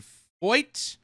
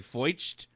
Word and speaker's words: Feucht: Montreal police swarm a 1930s cathedral in to stop US artist Shan Fo. I think that's how you pronounce it. I know it looks like foed because of the ch, but apparently it's fo uh from singing prayer.